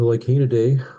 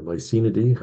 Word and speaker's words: Lycaenidae: The Lycaenidae, or Lycaenidae, I've heard lepidopters pronounce it both ways, are the gossamer wings, a group of really relatively small, beautiful butterflies.